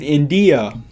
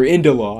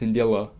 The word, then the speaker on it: Indila: to say India, but it's not India, it's Indila.